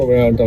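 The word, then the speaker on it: Vallarta: ये देखो जी, हम जा रहे हैं यहाँ पे पुर्टा वाल्टा में। इंग्लिश भी अजीब है कि 2 L हैं वर्ड में, लेकिन दोनों ही साइलेंट है।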